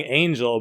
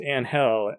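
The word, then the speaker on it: Ángel: of Angel Calderon Frias, who everyone keeps calling Angel, but he's Spanish, so I'm pretty sure it's pronounced Angel, and if not, what grown-ass man is named Angel?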